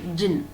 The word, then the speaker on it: Djinn: So D is silent, jinn, okay?